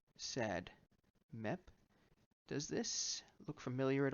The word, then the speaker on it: SADMEP: discuss this over here sad met or well pronounced sad met does this look familiar